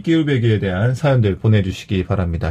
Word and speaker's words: 끼울배기: 자, 끼울배기 오늘 사투리 알아보고 있는데 눈치챈 분들도 있고 눈치 못챈 분들도 있겠지만 일단 정답과 함께 재미난 이 끼울배기에 대한 사연들 보내주시기 바랍니다.